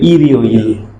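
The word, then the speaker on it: 일요일: থাকার কারণে এটা লাভ দিয়ে উপরে চলে যাবে, উচ্চারণটা হয়ে যাবে ইরিও ইল।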